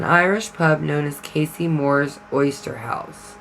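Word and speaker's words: Moeur: The residence was built by the influential Moore family. Now that's spelled M-O-E-U-R.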